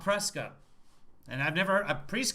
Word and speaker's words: Prescott: hope i stand corrected apparently there are some locals that absolutely insist that their town's name is prescott not prescott and i've never a